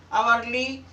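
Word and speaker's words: hourly: जब किसी शब्द में एच के बाद ओ आए तो आपका एच साइलेंट होगा। Honesty, अवर्ली, ऑनरेबल।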